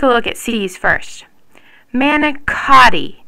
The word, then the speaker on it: manicotti: Manicotti. See? That CO makes a K sound.